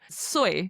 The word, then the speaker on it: soy: Now, it's literally written yo, Y-O, soy, S-O-Y, like soy sauce. That's the best way to remember it. So yo soy.